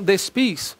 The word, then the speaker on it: despi: Então, despis, cortando S. Despi, vós, tal coisa. Então, despi, o agudo, aspas, o acento, né, de pronúncia forte mesmo é no I.